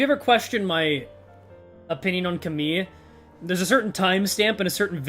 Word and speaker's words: Camille: Because that is the correct French pronunciation, and I've been around too many French people to say it incorrectly anymore. 내가 우연히 들은 이야기가 맞다면 Because the double L sound in French is a E sound.